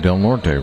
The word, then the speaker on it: Del Norte: team oh I guess I've been seeing Del Norte wrong all night that's Del nort I have to ask the guy next to me is it D nort pronounced d nort Del no no well